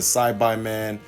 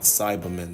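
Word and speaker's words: Saibaman: different arcs like the side by man all that stuff and yes that's how it's actually supposed to be pronounce it's not Cybermen that doesn't make any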